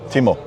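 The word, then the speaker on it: ティム: more usable in Japanese they pronounce it is timu Timo timu timu timu and I noticed also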